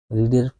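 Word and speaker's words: read: দেখো he will have রিডের past participle form কি হবে রেড দা বুক বানান একই থাকবে কিন্তু উচ্চারণটা আলাদা হবে তাহলে কি হবে রেড রিড রেড সেই বইটি পড়িয়া থাকবে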